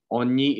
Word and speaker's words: ogni: Ogni itu artinya setiap. Ya. OGNI ya, bacanya ogni ya, dilafalkannya itu ogni, itu artinya setiap. Oke.